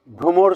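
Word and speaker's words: ভ্রমর: में कहते हैं भ्रोमोर उसका उच्चारण मैंने यहां लिख दिया है भ्रोमोर हंबल बी अगला है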